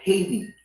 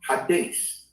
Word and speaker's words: Hades: taught to call it Hades but it's actually pronounced Hades and it's spelled h-a-d-e-s all right the E has a long a sound in Latin right so it's Hades